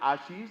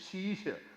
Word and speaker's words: Ashish: For Punjabis, my name is Shisha. A is silent. Just like it's not knowledge, it is knowledge. Same way, it is not Ashish, it is Shisha. Shisha, auntie.